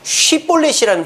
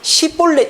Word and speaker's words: 쉬볼렛: 발음을 시키는데 이 에브라임 사람들은 쉬볼렛이라는 발음이 안 되는 거예요. 그냥 시볼렛 이렇게밖에 못하는 거예요.